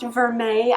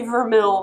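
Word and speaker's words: vermeil: it says it's gold vermil apparently it is pronounced veret I did not know that so I'm going to say vermil this entire time which is more expensive and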